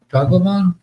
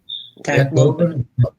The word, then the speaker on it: Tacloban: Well, Tagleman? Yeah, actually, say my girlfriend corrected my pronunciation of it. It's Tucklobin. What is it? Tucklobin.